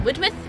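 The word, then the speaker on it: Widemouth: uh wide my beach people have been calling it wood with it's spelled wide mouth and but there you go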